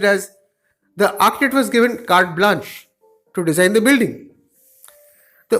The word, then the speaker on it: carte blanche: The next word which we want to discuss is written as carte blanche, but it's actually pronounced as carte blanche.